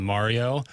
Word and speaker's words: Mario: And Tim said, I remember it vividly, he said, it's more of a long A on Mario.